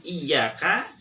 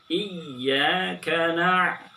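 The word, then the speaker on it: إياك: Oke, di ayat kelima ini kesalahan yang biasa terjadi adalah ketika kita mengucapkan iyyaka tidak ada tasydidnya. Iyyaka padahal ada tasydidnya. Jadi di ayun. Iya. Oke. Iyyaka Oke, kemudian pengucapan ain itu juga boleh ditahan.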